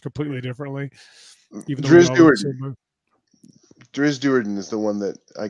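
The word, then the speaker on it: Drizzt Do'Urden: It's Driz Duerden. The T is silent. Driz Duerden.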